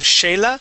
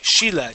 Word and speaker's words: Sheila: Now this word here, instead of Shayla, the word is she, Sheila. Cheating Sheila cheated.